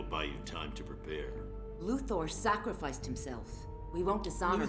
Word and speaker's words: Luthor: like Lex Luther uh it's not it's Thor everybody in this game says luor and everybody in chat